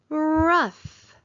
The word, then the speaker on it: rough: Rough, rough. The table felt rough. It sounds like it should have f spelled with the letter F at the end, but instead it's a different spelling pattern.